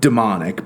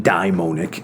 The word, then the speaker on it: daimonic: And you could also pronounce that demonic, but he's really meaning daimonic.